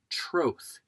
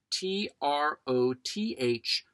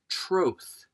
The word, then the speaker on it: troth: Today's rant centers on another word that is often mispronounced on stage and screen. The word is troth, t r o t h, troth.